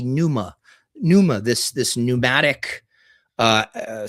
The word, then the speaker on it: pneuma: Well, in in you know in various traditions they say soul but really spirit pvma uh or as as angophone pronunciation would be numa.